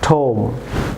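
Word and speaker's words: tomb: যেমন ভিউয়ার্স অনেকে আপনারা এটিকে প্লাম্বার প্রনাউন্স করে থাকেন, সব রং প্রনাউন্স এটি হবে প্লামা, বি সাইলেন্ট থাকবে, যেমন প্লামা। যেমন ঠোম, নট ঠোম, ঠোম।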